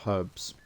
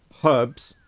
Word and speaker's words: herbs: I have some herbs. Herbs with a H cuz that's how you spell it. Not herbs.